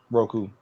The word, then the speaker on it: Roku: R Roku is that how you say it Roku yeah now I have Roku on my TV